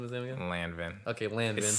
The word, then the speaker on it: Lanvin: but not um how are you pronouncing this again lanvin okay landing is so simple it's phonetic like l-a-n-v-i-n lanvin is like going [